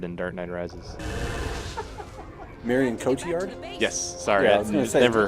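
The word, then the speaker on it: Cotillard: uh that was a better death than marion catillard and dark knight rises marion cochiard yes sorry yeah she's never heard it pronounced out loud because she is a french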